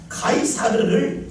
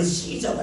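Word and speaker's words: Caesar: 이 가이사라고 하는 말은 원래 그 이탈리아 말로 하면 가이사르입니다. 가이사르를 영어식 발음으로 시저가 됩니다. 이것을 독일식 발음으로 카이저가 되겠죠.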